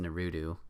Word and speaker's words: Naruto: It's pronounced Naruto.